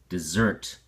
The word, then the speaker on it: desert: that's called a desert even though it's spelled the same this is the verb does desert with the ex and or stress on the second syllable desert and it sounds like